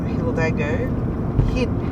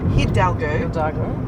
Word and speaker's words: Hidalgo: That's a turn off there to Dolores Hilago. Hidalgo. Yeah, I said it wrong. We always say it wrong.